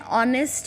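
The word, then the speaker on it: honest: वहां भी उस करते हैं जहां पर एच साइलेंट होता है for example and ऑनेस्ट मैन हम जब ऑनेस्ट बोलते हैं तो भी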